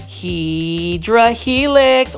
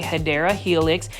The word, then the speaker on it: Hedera helix: Hydra helix, or the correct way to say it if you want to say it the correct way, Hedera helix.